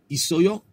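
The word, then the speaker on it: 있어요: Instead of just spelling it I-S-O-Y-O, isoyo, isoyo, isoyo, they'll add extra letters sometimes. You don't pronounce both consonants.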